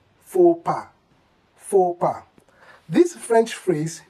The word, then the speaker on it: faux pas: Well, it is wrong if you say fouls pass, fouls pass. Kindly pronounce this simply as faux pas, faux pas.